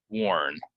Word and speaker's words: warn: in all these words um a lot of times people want to say like um R but it's or right so warn I tried to warn